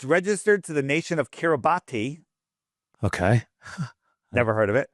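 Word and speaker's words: Kiribati: So, we click on it and it says uh it's registered to the nation of Kiraabati. Okay. Never heard of it. No, it's called Carabas is how they pronounce it, but Kerobati.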